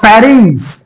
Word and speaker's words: pharynx: ह्याच्यानंतर जे आहे ह्याला म्हणायचं फॅरिंग्स. म्हणा फॅरिंग्स. फॅरिंग्स तुम्ही उच्चारण चुकीचे म्हणताय म्हणून पाठ करून घ्यायला लागले. फॅरिंग्स. फॅन्ड्री मधलं फॅ, रिंग्स, रिंग्स. ओके.